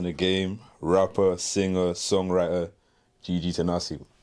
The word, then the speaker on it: Gigi Tenase: Today, we're tapping in with one of the rising stars in the game, rapper, singer, songwriter, Gigi Tenase. How you doing? I'm great, and thanks for pronouncing my name correctly.